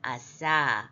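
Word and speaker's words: עָשָׂה: 아싸. 아인 밑에 아 모음 있고 그죠? 카마치 있잖아요. 그러니까 장음이고 그래서 아싸 만들다 하다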